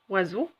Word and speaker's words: oiseau: Oiseau, vous avez remarqué, et lettre S entre 2 voyelles. Donc ça va se prononcer Z et non pas S.